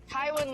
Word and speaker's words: Tywin: can say uh entire is that that you pronounce it um uh tyrion's dad tywood yes Tywin Lannister you almost can see where the Lannisters